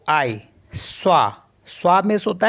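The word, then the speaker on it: soi: त्वा मेंस होता है यू एस ओ आई स्वा स्वा मीस होता है सेल्फ और पी ओ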